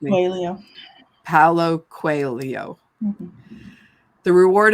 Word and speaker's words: Coelho: And Jess, if you know the proper pronunciation of this person's name, will you Paulo correct me? Coelho.